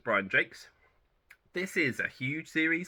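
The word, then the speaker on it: Brian Jacques: the time when I read them how to pronounce his name so I said Brian jacks or Jacques because it's j-a-c-q-u-e-s like the French name but it's Brian Jakes this is a huge series I think it's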